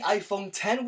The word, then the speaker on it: iPhone X: product later this week we've got the iPhone 10 which is spelled with a Roman numeral X we've got the iPhone